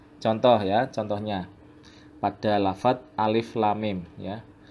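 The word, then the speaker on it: الم: Cara membacanya begini. Alif lam mim, lam mim. Jadi ini hurufnya diidghamkan pada huruf sesudahnya. Ini lam masuk ke mim. Jadi huruf lam dibaca dengan mengidghamkan huruf mim.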